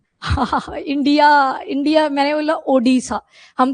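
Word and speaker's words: Odessa: India India मैंने बोला ओडसा हम तो ओडसा बोलते हैं ना ओ डी ई एस एस ए ये स्पेलिंग है उसकी वो यूक्रेन में लोकेटेड है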